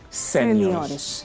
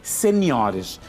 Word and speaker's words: seniores: Não se diz no português padrão júiores, séniores, mas sim juniores e seniores.